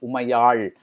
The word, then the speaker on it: Umayal: For instance, she tells JK that her name is pronounced Umayal, and he says he knows because he's Maharashtrian and the L sound is there in Marathi too.